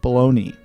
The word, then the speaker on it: bologna: America is probably why the word is pronounced very differently from how it's spelled it's in reality it's